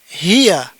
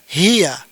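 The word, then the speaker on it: هي: Kemudian yang ini ini dibaca hiya ya tidak dibaca yang lain pasti dibaca hiya.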